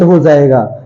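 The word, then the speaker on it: hedge: बोलते हैं अगला हैडज इसे हेडस नहीं बोलते इसे हैज बोलते हैं जज क्यों क्योंकि इसमें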